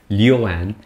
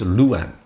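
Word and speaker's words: Lu'an: So similarly, Liuan is... locals, it's Luan.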